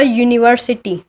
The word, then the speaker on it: university: We use A when its U sound pronounced in beginning. Example, a university.